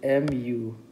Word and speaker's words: mu: force which is equal to MU it is pronounced as mu mu and n is the normal force and